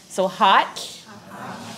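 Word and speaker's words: ha7lh: So how you pronounce the L-H is you put your tongue to the roof of your mouth and you blow. So can everyone do that? There you go. So hot, hot.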